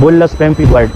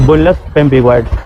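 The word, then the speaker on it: bullous pemphigoid: तो फिर इस तरह की कंडीशन को हम कहते हैं बुलस पपीगोइड। ये क्या है? बुलस पपीगॉइड। मैं स्पेलिंग बता रहा हूं।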